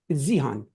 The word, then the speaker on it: Zihan: Zihan, by the way, it's Zihan. I'm saying it correctly, right? Yeah, it is.